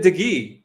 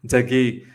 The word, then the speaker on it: De Gea: Is it David De Gea? De Gea? De Gea? De Gea? I find it hard to pronounce that name, man. David De Gea. I think that's how you pronounce it, David De Gea.